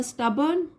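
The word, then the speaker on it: stubborn: बट द स्टबर्न donkey, तो स्टबर्न का मतलब होता है जो बहुत ढीठ होता है, अपनी बात पर अड़ा रहता है, उसको बोलते हैं स्टबर्न। आर साइलेंट होगा।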